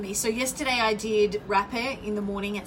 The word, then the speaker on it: rapé: Please Google rapé if you want to find out a little bit more about it. It's spelled R-A-P-E, rapé.